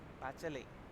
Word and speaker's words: Bachelet: The T is silent, so Bachelet of the Chilean Air Force and many others who had refused to join the coup.